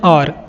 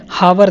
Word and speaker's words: hour: Are late by एन आवर, यू are late by एन आवर, इसको HOUR को और पढ़ते हैं, हावर नहीं पढ़ते हैं, ध्यान रखिएगा, H साइलेंट होता है।